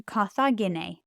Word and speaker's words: Carthagine: Carthago goes to Carthagine, at Carthage or in Carthage. That's a third declension, with my e sound at the end.